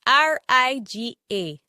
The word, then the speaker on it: riga: The next word we are going to look at is R-I-G-A. R-I-G-A. This word is pronounced in 3 different ways. The first one is as a shirt. And as a shirt is pronounced riga.